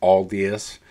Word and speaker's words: Aldious: of guided on the way it should be pronounced as alus um so let me let me know uh